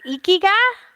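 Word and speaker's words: ikigai: japanese word and it's is it is it ikiga is that how you say it uh-huh yeah it's in it's an intangible and it's loosely translates to our purpose so can you go more into detail on ikiga and the meaning behind it and how you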